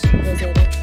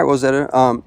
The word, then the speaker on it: Rozetta: Mine's spelled with a Z though. Oh, really? R-O-Z-E-T-T-A. Rozetta. Okay. All right, Rosetta.